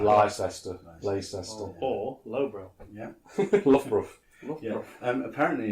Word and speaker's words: Loughborough: Loughborough. Yeah. Apparently, it's the Australians that call it Lugabaruga.